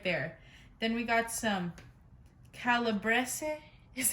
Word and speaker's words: calabrese: two rows right there then we got some calabrese is how you pronounce it salami and then we've got some